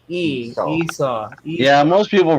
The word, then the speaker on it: Esau: recognize the name who've heard it before probably Esau is the best pronunciation remember Esau cut remember Esau Cuts Like